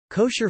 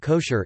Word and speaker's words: kosher: Food that may be consumed according to halakha law is termed kosher in English, from the Ashkenazi pronunciation of the Hebrew term kasher, kasher meaning fit.